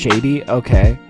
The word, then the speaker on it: Sade: It's pronounced Sade, okay?